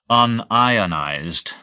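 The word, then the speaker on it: un-ionized: left yes I see I called it unionized referring to a substance that did not break down into ions in solution I accent the second syllable exactly the same word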